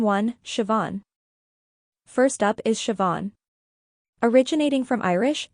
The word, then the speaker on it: Siobhan: get started name one Siobhan first up is sioban originating from Irish it's pronounced as Shian remember it's all about that AER sound at